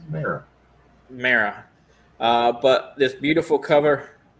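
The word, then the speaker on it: Mera: have this beautiful cover, and I can never pronounce her name right. No idea. Maria. You talk about Mara? Mara? Yeah, for an Aquaman. Oh. Yeah, it's Mara.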